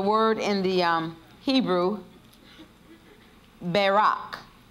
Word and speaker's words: barak: in the um hebrew barak barak b-a-r-a-k the first a has a long a sound so it's talking about